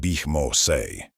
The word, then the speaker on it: Bimos: Camp Bimos, pronounced Bishmoay.